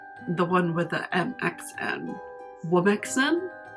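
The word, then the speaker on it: womxn: Womixen? Womixen.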